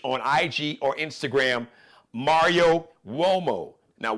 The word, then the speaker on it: Uomo: Check out his Mario Uomo collection and Flyball collection. Just search on IG or Instagram, Mario Uomo. Now, Uomo is pronounced like with a W, but it's an Italian word.